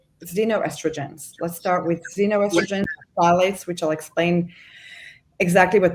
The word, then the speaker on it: phthalates: Phthalates, if you want to spell it, right? But it's pronounced phthalates.